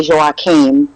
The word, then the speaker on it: Joachim: know instantly they say joachim that's that's how you pronounce it because it's a norwegian name okay but i think